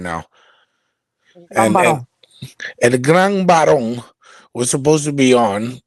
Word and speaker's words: El Gran Barón: Because I always call him El Gran Cabrón, because that's how I feel right now. And Gambaro. El Gran Barón was supposed to be on.